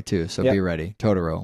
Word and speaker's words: Totoro: Totoro, like the English dub, motherfuckers.